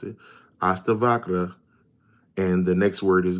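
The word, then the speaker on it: Ashtavakra: That's how you pronounce it. Aasta Vakra.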